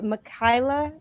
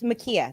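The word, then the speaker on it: Ma'Khia: the case of um it was a makai makaila what was her name how do you say kayla okay it's makia that's it um in her case you know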